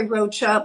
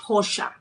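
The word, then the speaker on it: Rocha: A lot of people say Roachcha, but it's a Brazilian last name. So the R is uh sounded like H. Hossha.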